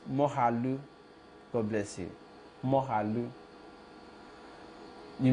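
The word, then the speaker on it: Moghalu: Mogalu is pronounced Mohalu.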